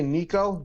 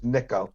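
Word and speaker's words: Nicko: anybody who says n if they say Nico pronouncing it wrong right yeah exactly it's it's niiko his name is Michael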